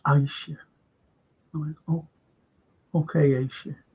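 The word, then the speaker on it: Ayshea: And I was calling her Aisha, She said it's pronounce my name correctly. I went, oh. She said, it's Aisha.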